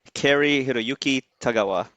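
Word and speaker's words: Cary-Hiroyuki Tagawa: Please pronounce his name. I know his first He name is Carrie. Kari Hiroyuki Tagawa.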